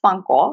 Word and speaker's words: Fancl: They're called Funkel. It's spelled Fancl, but essentially they were the financial backers when we first started.